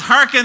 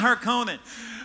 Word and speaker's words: Harkonnen: couple of years ago it's Harkin and it's not her comment but so you know